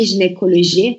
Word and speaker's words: jinekoloji: Burada da G harfi J olarak, Y harfi İ olarak, J, N, C burada kadın bir ünlü gelmiş. Devamında bakın O harfi gelmiş, K oluyor. Loji yine G ve Y aynı şekilde J olarak geçiyor.